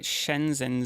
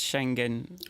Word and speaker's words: Schengen: you know so in calling it shenzhen zone it is Schengen zone in China so I